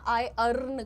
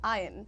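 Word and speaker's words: iron: तुम कहो आयरन। Right? This bottle is made up ऑफ़ आयरन। And there for आई कैन not pick it अप और lift it अप। आप यहां पर आयरन की practice करिएगा। आई अर्न की नहीं आयरन।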